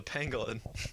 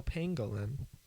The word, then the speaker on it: pangolin: Pengalin that's an animal how do you spell that exactly how it sounds is it P A an yes Pang oh Pangolin yeah oh that's not a